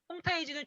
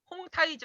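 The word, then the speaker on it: 홍타이지: 발표를 이제 할 예정인데 콩 쾌청 들어 보시지요 홈 타이즈는 중급 빠르므로 만주어 발음으로 아이 50주 얼어 홈 타이즈 라고 하는 만주어 발음이 있는 중복 문제 입니다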